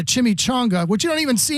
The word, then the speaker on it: chimichanga: were not hard like I had a guy called a chummy chinga which is a chimichanga which you don't even